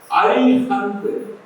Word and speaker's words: அரிஹந்த்: அதனால நீங்க நிறைய பில்டிங் ப்ரமோட் பண்ணக்கூடியவனுடைய இதை பார்த்தீங்கன்னா அரிஹந்த் கரெக்டா உச்சரிக்கணும். ஹரிஹந்த்னா குழந்தைது. ஆ போடணும், ஹா போட்டா அவ்வளவா.